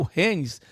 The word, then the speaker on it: Rennes: Acho que é Rennes a pronúncia correta, né?